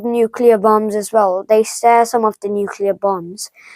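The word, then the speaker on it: Tsar: nuclear bombs like the SAR bomb uh it isn't S A it's actually TS a bomb uh but you don't pronounce the T okay they're equipped with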